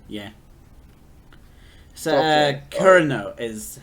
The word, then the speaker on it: Kureno: Kureno is how you pronounce that name. Kurino.